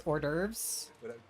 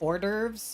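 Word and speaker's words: hors d'oeuvres: It's ordurves. orves. Orderves. You don't pronounce the hus.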